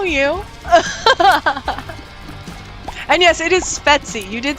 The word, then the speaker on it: Svetsie: And yes, it is Svetsie.